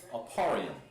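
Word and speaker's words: אפרים: It's Ephraim. Name of this Aparium, I believe. Let me check. And this is yeah. Aparium. Yeah, that's still the same. Aparium. That's how you pronounce it in Hebrew.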